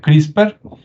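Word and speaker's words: CRISPR: una que es crisper se escribe CR y spr y se pronuncia crisper Y usted puede investigar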